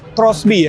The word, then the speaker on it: XBee: Oke, jadi walaupun tulisannya XB tapi emang ini dibacanya Crossby ya.